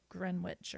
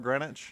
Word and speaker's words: Greenwich: out grenwich FYI also I'm not the only idiot who pronounced Greenwich wrong because my little sister Abby was going to New York City and they have grenwich Village and she called it like greenwitch or something well I I could